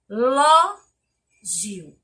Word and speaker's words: relógio: terceira palavra relógio e logo observo que a palavra está acentuada que é o loló e na pronúncia ela permanece sendo a mais forte então é relógio sílaba tônica da palavra